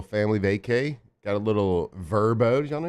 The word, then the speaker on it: VRBO: got a little verbo. Did y'all know you pronounce it verbo, not VRBO?